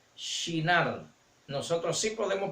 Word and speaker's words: Shinar: Recuerden bien que no se les olvide que los griegos no pueden pronunciar la she, así que ellos le quitan la h para decir en la tierra de Sinar, en la llanura de Sinar, pero en hebreo se pronuncia Shinar.